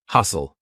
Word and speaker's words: hustle: saying listen silent t hustle st tle e lots of times words with stle e will have a silent T hustle or f t n